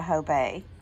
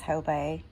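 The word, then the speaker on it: Hobé: but this is a Hobey. Very pretty piece. Some people say Hobe, some people say Hobey. I believe the proper way to say it is Hobey.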